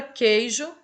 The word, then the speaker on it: queijo: Na palavra queijo, né? A gente tem o Q e o U, mas a gente pronuncia como se esse U não existisse, como se fosse apenas o Q.